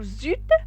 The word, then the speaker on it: eu: vous avez la terminaison un z ils ont au mp le passé composé se compose au participe passé et l'auxiliaire l'auxiliaire c'est à voir j'ai eu e u se prononcer u j'ai utilisé il a